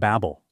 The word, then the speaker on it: Babylon: an important city state its name is of Unknown Origin and was likely pronounced Babel Acadian speakers of the